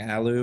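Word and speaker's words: allu: the round is lost right so apparently I'm mispronouncing the name of yeah I should be saying Alo instead of I guess I said Aloo by accident whoops sorry about that folks Alo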